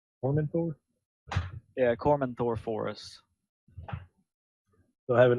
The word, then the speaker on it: Cormanthor: Is this pronounced Cormathor? Cormanthor? Yeah, Cormanthor Forest.